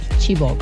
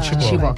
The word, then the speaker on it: Chibok: Well, I pronounce it Chibok. Yeah, Chibok.